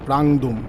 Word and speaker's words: প্রাংদুম: বন্ধুরা প্রাংদুম যাব, প্রাংদুম। আমরা এতক্ষণ বলছিলাম উচ্চারণটা ভুল হচ্ছিল, পাদুম করছিলাম, ওটা হচ্ছে প্রাংদুম যাব।